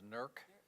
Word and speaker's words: Newark: Okay, I grew up in Newark, commonly known as NERC. Yeah. My mother used to send me T-shirts, N-E-R-K-A-H-I-A, which is exactly how it's pronounced back home, right?